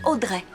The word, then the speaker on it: Audrey: et Joséphine audrify ah c'est là que la plupart des experts se trompent en réalité ça se prononce Audrey son deuxème prénom lui